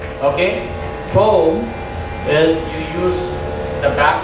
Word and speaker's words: thom: So for the ghatam, the basic fingering syllables are ta, okay, T-H-A, ta, D-H-I-D, thom, T-H-O-M, and nam, N-A-M.